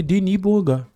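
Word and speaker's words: Denis Bouanga: nosso querido Thiago Manolo, porque o Deni Boangá é francês, né? E naturalizado, gabonês, então ele nasceu na França, então é Deni Boanga, tá?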